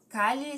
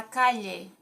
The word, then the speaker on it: calle: Calle significa rua. Daí, o espanhol da Espanha fala calle, com LH. E o espanhol da Argentina fala calle.